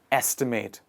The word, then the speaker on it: estimate: next word is estimate the focus of the pronunciation goes on the first part of the word estimate please repeat after me